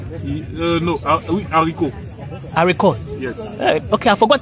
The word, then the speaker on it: haricot: Haricot? Yes. Okay, I forgot. See how French is difficult? That you cannot pronounce the last letter.